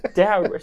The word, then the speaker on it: Daryl: Right, Daryl. It's pronounced Daryl.